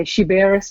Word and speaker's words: Sciberras: if you wanted to the maltese might say shiberus i'm not guarantees my